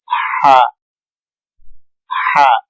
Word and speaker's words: ح: رکھا جائے گا کہ ہا کو ادا کرتے وقت جیسے ٹھنڈی سانس لیتے ہیں ہا ہا، اس چیز کا خیال رکھنا ہے ہا کا تلفظ، یہ ہا اور یہ گول ہا یہ دونوں مکس نہ ہو جائے، اس چیز کا